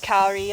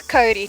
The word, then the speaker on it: kauri: And also it's not pronounced Kauri like we've been saying. It's Kauri trees.